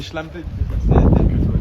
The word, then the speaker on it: Schlampe: Mais- Non, mais c'est schlampe.